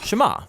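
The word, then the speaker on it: שמע: is hear or listen which in hebrew is pronounced shema that's where the prayer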